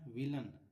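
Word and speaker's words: villain: यहाँ देखिए क्या लिखा है, फाउंटेन, है ना, विलेन, है ना, विलन, इसको विलन पढ़ते हैं, यहाँ पर अ का उच्चारण हुआ है।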